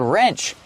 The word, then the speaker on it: wrench: there remember the word wrench the W is silent so it's pronounced with the r sound first r r wrench that's a little wrench